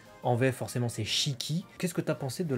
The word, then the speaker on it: Shiki: qui forcément, sans douter, il est prononcé Shiki, donc bien avec les deux syllabes détachées. En japonais, ils auront tendance à aller vite sur le i, sur le premier, sur le shi, ça va être Shiki.